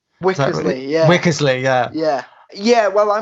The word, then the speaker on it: Wickersley: was the courtyard that I'm probably gonna probably pronounce this wrong was it wixley yeah wickersley yeah yeah yeah well I mean it's mainly